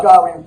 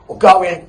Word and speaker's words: Gawain: But this, it's a retelling of the Arthurian legend of Sir Gawain, or going, however you want to pronounce it, as he has to